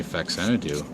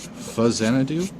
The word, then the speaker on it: Faxanadu: I mean, I used to say Faxanadu. It's Fazanadu, or it's like F-A Xanadu, that kind of thing, where it's pronounced differently, like Gradius is Gradius.